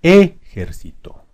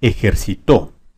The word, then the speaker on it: ejército: tónica en la e ejército ejército vamos a ponerla en ger ejército ejército Vamos a ponerle en sí ejercito cito vamos a ponerla en to ejercitó ejercitó tenemos ya separada en